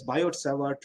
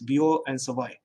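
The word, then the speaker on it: Biot–Savart: Often we call it as Biot-Savart law, but that's not the correct pronunciation. It's Biot and Savart.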